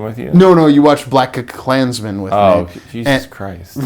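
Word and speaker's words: BlacKkKlansman: Black Klansman, that's it. There's 3 Ks. Black, that's the first K. That's the second K. Klansman, that's the third K. That's intentional by Spike Lee.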